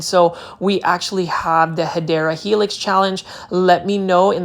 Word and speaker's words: Hedera helix: And you will see right here, we've got a Hydra helix, or the correct way to say it is Hedera helix.